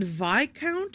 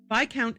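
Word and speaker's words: viscount: The vic was it vicount or vount? I know the s is not pronounced. Viccount Edwin vandenbos has sadly passed away.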